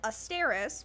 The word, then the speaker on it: Azstarys: I would write Asteris, and they're just like, what is that? And I'm just like, I would always have to spell it. And so it's spelled Azstarys.